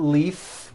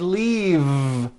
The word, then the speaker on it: leave: leave is that correct no it's not leaf with an unvoiced f I should have said leave with a voiced V sound fisa she just received